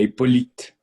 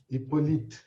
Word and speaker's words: Hippolyte: Ou então, você pronuncia direito esse Hipólito dele aqui? É Hippolyte. Hippolyte.